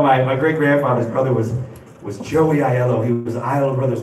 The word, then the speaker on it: Aiello: No, it's like Danny Aiello, the famous actor. It's Italian. It's A-I-E-L-L-O. But the A silent, people don't know how to say it.